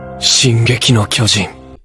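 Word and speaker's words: 進撃の巨人: attack on titan or pronounced in japanese as shin gekino kyoji atakantan is one of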